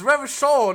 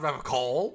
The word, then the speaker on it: Revachol: It's Revachol, not Revocol. He pronounces Revocol with a hard K, unlike other people.